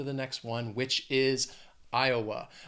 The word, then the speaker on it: Iowa: next one which is Iowa Iowa has three syllables and the stress is on that first syllable Iowa again Iowa spelling pronunciation a little crazy IA that second syllable has that schw Iowa and when I